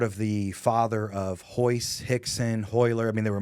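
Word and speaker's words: Rickson: the father of ho Hixon hoer I mean they were more Hulker there others but the the most all with RS but it pronounced with an H right right this a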